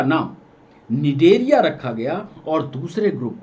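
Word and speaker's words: Cnidaria: पहला नाम दिया गया निडेरिया, नी सी साइलेंट होता है, नी डेरिया, और दूसरा नाम दिया गया टीनोफोरा।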